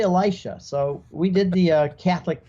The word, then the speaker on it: Elisha: And it's hard to make people, did he say Elijah or did he say Elisha? So we did the Catholic pronunciation, but my wife had to keep saying, cut, you said Elisha.